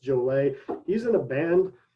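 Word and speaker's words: Jollett: park by mikhail jolet it looks like it ought to be jawlet but it's pronounced jolay he's in a band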